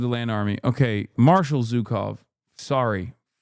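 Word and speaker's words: Zhukov: Historically speaking, this is Zukov, not Zuko.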